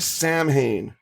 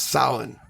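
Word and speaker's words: Samhain: you look at it Sam it looks like Sam Hae that is not how it is pronounced it's actually pronounced Salin and it's when people would like bonfires and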